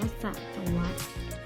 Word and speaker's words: สหัสวรรษ: จะ Swatch นะ คะ อ่าน ว่า สะ สะ วัต หมาย ถึง ช่วง เวลา